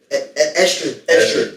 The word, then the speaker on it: Estrid: You said Idris? Is that a name? I think so. Estrid.